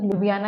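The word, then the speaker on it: Ljubljana: की जो कैपिटल है यहां पर जे दोनों जगह साइलेंट है तो लु बियाना इसकी जो है वो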